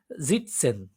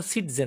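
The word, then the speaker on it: sitzen: জিটসেন, জিটসেন এটা কিন্তু সিটজেন না, অ্যাকচুয়ালি এটা ঝ, অনেক সময় বলেছিলাম আমি এসটা ঝ এর মতো প্রোনাউন্সিয়েশন হয়, তেমনটা এখানে।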